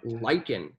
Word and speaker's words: Lykan: There's a car called Lycan. It's spelled Lykan.